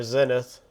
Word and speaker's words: Zenith: Zenith, or Zenith, I've heard it pronounced multiple ways.